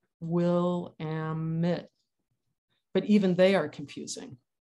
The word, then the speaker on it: Willamette: okay here we go rhymes with dammit what the river says this is what i say william stafford the willamette dares the stranger to say her name one needs the dictionary syllables will ammit but even they are